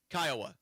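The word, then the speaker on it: Kiowa: Kioa County. Kioa. Am I pronouncing that right? Landon Kioa. Kyoa.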